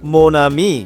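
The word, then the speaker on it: mon ami: plus noun pauses plus নাউনের কষেত্রে যেটা হবে মোনামি মানে আমার বন্ধু ম নামি আমার বন্ধু এক্ষেত্রে হচ্ছে ওনের উচ্চারণ ও নাকের মধ্যে হবে ম আর আমি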